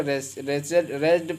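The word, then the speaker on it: wretched: इसी प्रकार से है रेस्टेड। क्या है, रेस्टेड, तो रेस्टेड नहीं बल्कि रेस्टेड पढ़ेंगे, डब्ल्यू को नहीं पढ़ेंगे।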